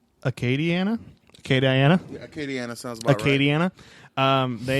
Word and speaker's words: Acadiana: you can donate the United Way of Academia I think is how you say it is Louisiana Acadiana okay Diana Acadiana Acadiana